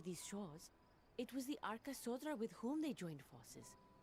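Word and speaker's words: Arkasodara: the Gajasura and the Arkasodra. So they don't pronounce the Dara, or at least she didn't. The Arkatsotra. So that Dara is just Dra.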